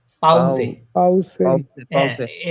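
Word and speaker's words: Pause: পাউসে পে। পাউজে। পাউসে পাউসে। হ্যাঁ, পাউসে। এস উচ্চারণ করবেন, এটা জে এর মতো পাউসে। উচ্চারণ করবেন।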